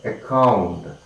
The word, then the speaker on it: account: adore, primary stress is marked on the second syllable. And the next one more, that is, of course, we have next we have account, okay, account, A-C-C-O-U-N-T, account, and that is account,